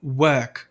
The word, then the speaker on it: work: Um dos padrões do sotaque britânico é esse R antes de consoante não ser pronunciado. Então você pode falar work, ok?